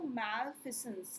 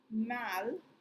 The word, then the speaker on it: malfeasance: बोलते हैं, उसको हम लोग बोलते हैं बच्चों मैलफिसेंस, ठीक है। इसका करेक्ट प्रोनाउंसिएशन देख लो, मैलफिसेंस, ठीक है, मैलफिसेंस, ठीक है, रॉन्ग डूइंग और मिसकंडक्ट, ठीक है।